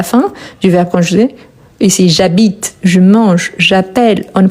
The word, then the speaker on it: habite: Vous voyez que le verbe habiter commence par H. Il s'agit d'un H muet.